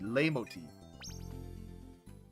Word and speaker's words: Leitmotif: Like I said, I've always heard it with a silent T. Leitmotif.